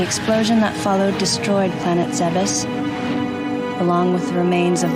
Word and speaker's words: Zebes: Defeat the Metroid of the planet Zebes and destroy the Mother Brain, the mechanical life vein, Galaxy Federal Police, M510. Now, you may notice that I pronounced Zebeth as Zebes, and the reason why is because Zebeth is